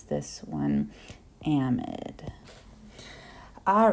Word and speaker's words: amide: the amide, it looks like it would be pronounced amide or amide, but unfortunately this is chemistry, so we have to be a little bit difficult, and we pronounce this one amide.